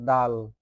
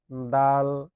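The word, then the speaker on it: دال: খলকের শেষ ভাগ হইতে ভালোভাবে উচ্চারণ করে নিবেন। খ এরপরের হরফটা হচ্ছে দাল। দাল একটু ভালোভাবে দেখেন দাল নিজে নিজে উচ্চারণ করেন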